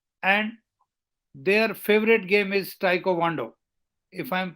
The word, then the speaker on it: Taekwondo: go for SSB and their favorite game is Taekwondo, if I am pronouncing it correct. यस सर, इट्स ताइक्वांडो। Yeah, Taekwondo.